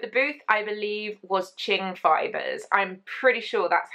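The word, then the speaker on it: Qing: of Ching fibers but it's one of those words that if you've never spoken out loud and only seen it written down because it's q i n g um you're probably going to mispronounce it and I am the queen of mispronunciation anyway but it was Ching fibers was the main Booth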